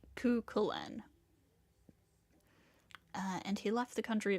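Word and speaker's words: Cú Chulainn: Okay, I think it's pronounced Kukulin.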